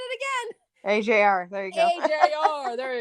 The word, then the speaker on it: AJR: AJR. There you go. AJR. There you go. Bah. Those poor guys. I have just not gotten anything right with them. No, I said it wrong too. I said AGR.